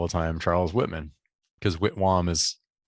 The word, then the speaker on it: Whitwam: But it was Whittam, W-H-I-T, W-H-A-M, and now it's W-H-I-T, W-A-M. And I guess pronounced Whitwam.